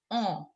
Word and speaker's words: ans: ANS is pronounced as on.